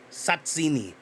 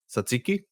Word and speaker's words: Tzatziki: And then also, how do you pronounce the that Greek yogurt and cucumber and dill sauce? Satsini. Tzatziki? Oh yeah, sorry, Satsini. Tzatziki. I bet say I don't know that I've ever had that.